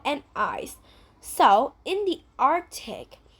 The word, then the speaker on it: Arctic: We don't really pronounce the letter C. We don't say Arctic. We say Arctic.